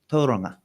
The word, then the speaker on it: Tauranga: So in this case, the correct pronunciation is Tauranga, and Tauranga is halfway there.